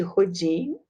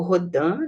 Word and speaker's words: Rodin: Esta é a imagem de Rodin, ou Rodin, né?